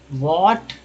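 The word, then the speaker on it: what: इ मे जिन imagine व्ट वट में एच जो है ए जो है साइलेंट होता है व्ट ए डेजर्ट इ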